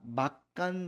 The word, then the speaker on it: 막간: 자, 막간 장면. 여기서 여러분 막 발음 주의해야 됩니다. 예. 맛 가다 이런 뜻 아니에요.